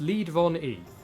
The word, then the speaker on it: LeadVonE: Uh, my online name is pronounced lead von E as in the verb to lead.